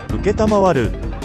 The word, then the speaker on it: 承る: 感じ何と読むでしょう mar 正解は承る謹んで招致する愛聴するええええ